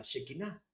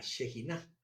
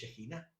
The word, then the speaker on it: shejiná: o la shejiná, porque con hebreo cuando se punta la eh k y la h se pronuncia con una j con un una pronunción fuerte de la j. Entonces, shejiná.